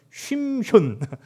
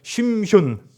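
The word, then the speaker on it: שמשון: 화면에 보시면은요, 이 삼손의 원래 정확한 발음은 쉼현. 예, 한번 발음해 쉼현.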